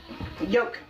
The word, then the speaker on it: yolk: one egg yolk yolk does everybody else pronounce the L when they're saying egg yolk I just need to know well I know there's a difference because a yolk is something different like we used to have horses and cows and stuff like that so we had like the yolk that we put around their neck but this has an L so if you choose to pronounce it that's your prerogative It's not there's one